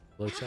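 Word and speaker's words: Luocha: Locha. I remember it. That's how you pronounce it.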